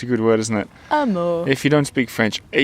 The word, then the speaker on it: Hameau: Amour. If you don't speak French, Hameau, Hamlet, I suppose, in English. Hamlet, that's right. But pronounced amour.